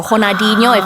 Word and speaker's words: Ronaldinho: He was presented the award by Ronaldinho or Ronaldinho, if you want to use the correct pronunciation.